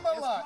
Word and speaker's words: Kamala: It's Come on, Kamala.